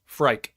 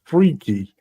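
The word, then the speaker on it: Phrike: so what's the name of the first boss frike it's not it's freaky is how you're supposed to pronounce it apparently ah off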